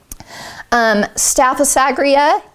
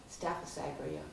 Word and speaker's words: Staphysagria: Staphysagria. Staphysagria, okay.